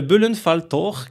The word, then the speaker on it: Böllenfalltor: Darmstadt, il s'agit là, alors attention, la prononciation, pour moi ça va parce que la prononciation allemande me va plutôt bien, mais pour certains ça risque d'être compliqué, c'est le Böllenfalltor, qui est un stade